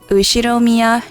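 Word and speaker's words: Ushiromiya: is one of my cousins his name is pronounced usir Mia George he's 5 years older than me so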